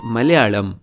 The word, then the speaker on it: Malayalam: If you look at the Malayalam spelling, you notice that the two L's are different. एक वो simple ल है जिसे कहते हैं alveolar ल, मगर दूसरा रेट्रोफ्लेक्स है। So it's not Malayalam, it's Malayalam. But that is not the only mysterious part.